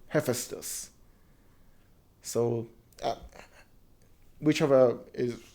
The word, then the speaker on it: Hephaestus: the purists know him hephaestus did i mispronounce that i it's in persian we call it a feistus but i don't know if it's closer because i've heard him called hephaestus so whichever is correct